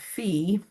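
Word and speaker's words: φ: So this critter is phi, and it is pronounced phi like that, okay?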